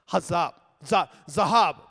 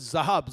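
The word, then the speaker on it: זהב: Now the word for gold here is zahab.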